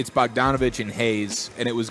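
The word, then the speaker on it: Bogdanović: did I read that wrong is it it's bobon or is it Bogue Donovan oh Bo donovich oh I'm sorry yeah these pronunciations are weird yeah but yeah it's bogdanovic and Hayes and it was going to be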